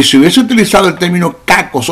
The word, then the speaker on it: kakos: Se escribe P-H-A-U-L-O-S, faulos, que significa malo en cuanto a inutilidad, pero Pablo no utilizó kakos o fonera, que se escribe K-A-K-O-S, o fonera, P-H-O-N-E-R-A, kakos o fonera.